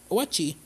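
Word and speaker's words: Oatchi: Owachi, pronounced Owachi, resident good boy and dependable partner, can help with things like especially obstacles and carrying Pikmin during your adventure.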